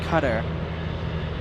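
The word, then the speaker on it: Qatar: It's pronounced cutter.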